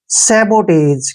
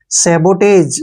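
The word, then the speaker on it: sabotage: से टे पढ़ेंगे और जीई का उच्चारण ज करेंगे ऐसे सबोटाज क्या हो गया सबोटाज सबोटाज होता है तोड़फोड़ तोड़फोड़ ठीक है ना सबोटाज ब यहां पर सोटेस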